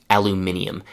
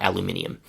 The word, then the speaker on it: aluminium: By the way, small detail, in North America, the pronunciation and spelling is aluminum, and in Great Britain, it is aluminium.